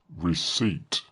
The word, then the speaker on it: receipt: Receipt. Receipt, Gav, has a P, but it is silent.